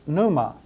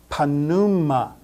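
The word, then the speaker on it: πνεῦμα: no letters are silent in English we would pronounce this Numa with a silent p but not in Greek all letters are pronounced in Greek so this is pronounced panuma p t udor notice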